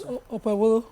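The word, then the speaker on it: Okpebholo: So my governor Okpebolo. I'm wondering why people call it Bolo, because there's a H, there's an H after it, and that H silences the, it makes it a bit.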